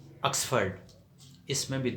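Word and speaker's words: Oxford: بولے جانے والا، آکسفورڈ، ہم کہتے ہیں آکسفورڈ، تو آکسفورڈ نہیں ہے، آکسفرڈ۔ اس میں بھی 2 مرتبہ او آیا ہے اور دونوں جگہ پہ زبر کی ساؤنڈ بولی جائے گی، آکسفرڈ کہا جائے گا۔ تو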